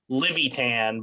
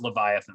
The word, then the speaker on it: Livyatan: so that's why it looks like it says levitan but it's pronounced leviathan that actually makes a lot of sense i